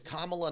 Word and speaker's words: Kamala: I was like something it's Kamala not Kamala right yes yeah oh thank